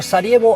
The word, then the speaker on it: Sarajevo: our trouble starts in Sarajevo or cerebro a city's pronounced by the locals the state life the